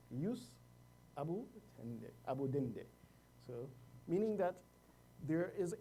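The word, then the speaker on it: jus abutendi: And this is actually the correct pronunciation of the term. Yesterday we said jus abutende, but the Latin pronunciation is jus abudende.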